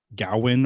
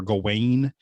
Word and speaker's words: Gawain: plays the main character, Gawain or Gawain. His name is depends on who you ask how to pronounce his name, but he has to go on a quest to fight the Green Knight.